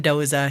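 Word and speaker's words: Doose: d okay but Herman Doza he's from Germany so it's pronounced Doza gotcha um yeah okay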